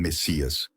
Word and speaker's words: MSIA: o líder da seita conhecida como msia movimento de consciência interior espiritual pronunciado como Messias era mais conhecido pelo